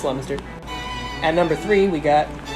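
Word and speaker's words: Leominster: four we've got leminster looks like it says leo minster nah it's laminster at number three we got scituate now you're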